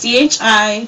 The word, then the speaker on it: Chi-Raq: Wesley Snipes was in, I don't know if I'm going to pronounce it right, Chirac. It's CHI-RAQ.